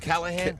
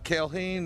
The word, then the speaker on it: Callahan: Is that pronounced Callahan? Callahan, as to the telemarketers, Callahan to everybody else.